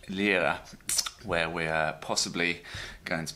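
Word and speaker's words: Llíria: point out to me that's pronounced Lydia Lydia and I are I a Lydia Julia Julia Julia or Lilia whatever your preference is my name's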